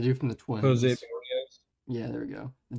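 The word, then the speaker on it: Berríos: for AL Cy Young, I'm gonna go Jose Barros. I don't know how to say his last name. The dude from the Twins. Jose Barrios.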